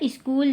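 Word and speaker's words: school: ओ एल अब देखिए एस से सा बना सी से क बना और एच एच इसमें साइलेंट होता है। फिर है डबल ओ से बड़ा ऊ की मात्रा और एल से ल स्कूल हो गया जाता जे ए टी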